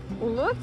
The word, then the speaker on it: Łódź: and spoke again, because out of habit I don’t say Łódź, but Lodz. I can't even pronounce Łódź correctly. Because in Russia for some reason this city is called Lodz. With a hard "L". And the letter "O".